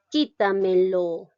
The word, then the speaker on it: quítamelo: El último ejemplo dice, quítamelo. ¿Dónde está llevando la mayor fuerza de voz? ¿En qué sílaba? En la sílaba ki.